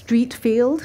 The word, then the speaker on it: Streatfeild: and and she answered the phone saying Miss Streatfeild so obviously it's pronounced Streatfeild because she would know wouldn't she and and